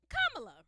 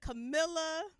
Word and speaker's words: Kamala: They don't call her Camilla.